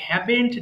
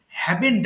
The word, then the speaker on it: haven't: তখন হয়ে যাবে আই হ্যাভেন্ট ডান, অর্থাৎ আমি করিনি হলে হ্যাভেন্ট ডান। হ্যাভ নট কে আমরা একসাথে বলছি হ্যাভেন্ট, মানে এটা অনেকে বলে হ্যাভন্ট বলে, হ্যাভন্ট হবে না, কিন্তু সঠিক উচ্চারণ হবে হ্যাভেন্ট।